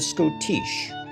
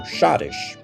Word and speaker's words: Schottische: Enter the Schottische, or Schottish, as it's sometimes pronounced.